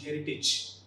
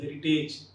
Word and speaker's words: heritage: That is courage and heritage. Often we pronounce these two terms like courage and heritage. Age should not be the N. The N should be ij.